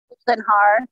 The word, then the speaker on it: Goldenhar: That's the right way to pronounce. Goldenhar, yeah.